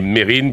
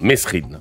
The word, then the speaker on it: Mesrine: Oui, la vraie prononciation est Mérine, bien qu'on entende le plus souvent Mesrine.